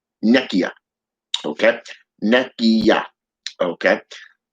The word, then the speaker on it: Nekyia: Nekyia. Nekyia. Okay. Nekyia. Okay. YA. Not YIA, but YA.